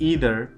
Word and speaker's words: either: इसका प्रोनाउंसिएशन है वो आइदर है और इसका नाइदर है। ठीक है, अगर हम बात करें यूनाइटेड स्टेट्स ऑफ अमेरिका की तो वहाँ पे इसे क्या बोलते हैं, ईदर और नीदर, ईदर और नीदर नोर।